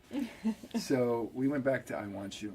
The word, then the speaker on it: Iwanciw: the time so well you do have a name that is pronounced I want you so that all work